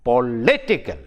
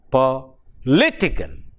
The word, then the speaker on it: political: So, the stress is on the syllable which is preceding the suffix. So, it becomes political, political, political, political.